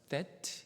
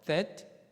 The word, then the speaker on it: that: TH 발음입니다. 그러니까 that 이렇게 되는 거예요. 한번 따라해 볼까요? that.